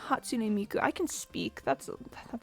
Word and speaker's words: Hatsune Miku: Have you guys heard the version where Hatsune Miku sings this? Like what? Wait, I think I said her name wrong. Hatsune Miku.